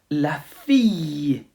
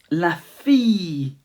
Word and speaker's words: fille: Daughter, la fille, la fille. Just imagine there is a Y in there at the end of la fille.